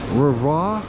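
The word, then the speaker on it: REWE: This is a Rava, where the W is pronounced as a V, I believe.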